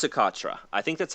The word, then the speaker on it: Socotra: this was like attitude is I think it's socotra I think that's how you pronounce it or so like a jewelry brand so it is socotra yes a culture it is the on the